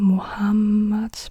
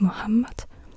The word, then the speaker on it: Muhammad: Muhammad the ha this it's not M muhamad but it's Muhammad and yeah so I